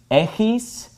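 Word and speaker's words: ἔχεις: This word is pronounced echis, and this is pronounced echete.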